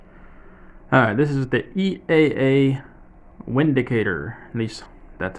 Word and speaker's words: Windicator: Windicator with a W. But since this gun is made in Germany, and you know how they like to pronounce their words, I guess you could say it's the Vindicator, but I don't know. I don't know which one they intended it to be.